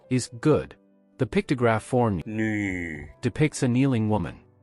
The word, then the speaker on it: 女: The pictograph for nu depicts a kneeling woman. We can use kneel as an approximation for its pronunciation.